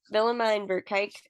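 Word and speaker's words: Willemijn Verkaik: I'm saying this right Vine verik the her first letter it starts with a w but it's pronounced with a v um she is a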